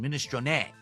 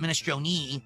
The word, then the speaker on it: minestrone: That's the Italian pronunciation. Minestron, not ministron, it's minestron.